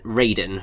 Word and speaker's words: Raiden: a little bit pernickety I believe that the pronunciation for Mortal Kombat's character is Raiden rather than ride and riding is the Metal Gear